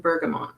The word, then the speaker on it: Bergamot: No one can say Brocante to Bergamot, and now I'm calling it a Sunday soiree. What's wrong with me? Well, some people say Bergamo, or they don't pronounce the T, so I just wanted to make sure.